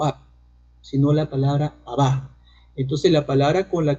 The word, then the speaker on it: Abba: Y algunos especialistas dicen que la palabra Abba actualmente en el arameo se pronuncia como Babá, o sea que ha tenido obviamente una evolución.